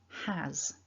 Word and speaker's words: has: the strong form first the strong form has that ah vowel in it which is familiar to you from many english words i'm sure such as the word cat so is that a has has now a couple of